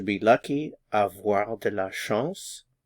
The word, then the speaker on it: chance: Avoir de la chance. Avoir de la chance. Notice the pronunciation. Sh. This is nasalized. And then s. Chance.